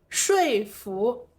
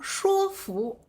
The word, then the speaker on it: 说服: 生活里最常用的是说服，也会有人把它发音读成说服。